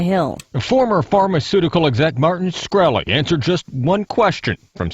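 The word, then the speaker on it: Shkreli: former pharmaceutical exec Martin scy answered just one question from South Carolina Republican Tre gouty during a brief session with the house overside committee is it pronounced scy yes sir see there you can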